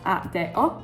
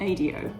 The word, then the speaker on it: ADO: So, ADO is pronounced at de because they speak Spanish in Mexico.